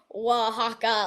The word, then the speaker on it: Oaxaca: I'll write it like where the actual line is, like phonetically, like WAA, Oaxaca, like stuff like that.